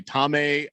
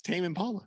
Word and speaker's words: Tame Impala: you say it otherwise what do people say tome um i mean it's tame impala what's the hell yeah i don't why are